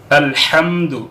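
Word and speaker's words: الحمد: সঠিকভাবে সঠিক উচ্চারণ করবেন আলহামদু এখানে হা উচ্চারণ করবেন রব্বিল আলামিনের মধ্যে উচ্চারণ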